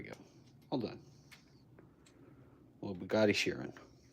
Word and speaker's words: Chiron: Little Bugatti Chiron. Or Chiron, if you pronounce it in the proper France.